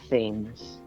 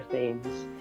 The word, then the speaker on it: Thames: a seagull, and so the seagull pronounces the River Thames Thames, and it's a good thing because he ends up rhyming it with flames.